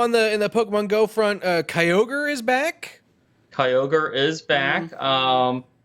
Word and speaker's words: Kyogre: Also in the Pokemon Go front, Kyogre is back. Kyogre is back. He's back. Now you say it. Yeah, it's Kyogre.